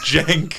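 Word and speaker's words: Cenk: And then people are like, "Bro, bro, his name is Jenk." Oh my god. It's spelled it's it's you say Cheng. Like it's like it's like a Turkish way of pronouncing the name.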